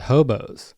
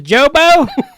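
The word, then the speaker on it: Jobos: And and he's from a town called Hobos, but it's spelled with J. And the cop grabs it. He's like, so your name is Jobo?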